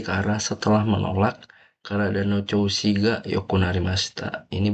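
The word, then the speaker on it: 調子: Ichiban Hantoshi-mae, setengah tahun yang lalu, ni tabako kotowatte kara setelah menolak karada no choushi ga yokunarimashita. Ini bacanya choushi.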